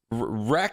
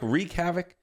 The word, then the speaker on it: wreak: could ground some planes wreck wreck havoc wreak havoc how would you how do you say it'd be weak it'd be wreak havoc i've heard people say wreck no no i like you you'd say like you know reek is havoc you know wreck is like